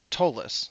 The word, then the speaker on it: Ptolus: going to pronounce tolus like the p in pterodactyl it's silent so i'm going to go with tolis that's how i've always said it i've been running a campaign in tolus for over three years